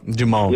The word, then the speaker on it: du Monde: Well, to be honest with you, okay, so you have Cafe Du Monde, and they have two locations. You were so One's close to in the French pronouncing Quarter. it correct. Is it Mundo?